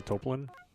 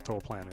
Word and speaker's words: Toaplan: Of course, I I I call this company Toplin, like Soapland, but I guess that's not the correct pronunciation. I guess Toplan is the how the Japanese pronounce it.